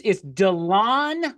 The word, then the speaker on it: DeLon: It's DeLon, like you're going to go outside and mow.